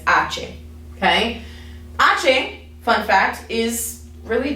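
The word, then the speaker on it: hache: that's how you say the letter name is ace okay fun fact is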